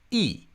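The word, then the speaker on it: 亿: means 100 million and that is pronounced e. E which is only one tone different from E which means one. So the difference between one and 100 million in Mandarin Chinese is a single tone.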